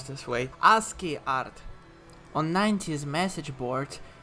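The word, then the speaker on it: ASCII: net art I believe is how do I pronounce this way aski art on 9s Message Board people couldn't post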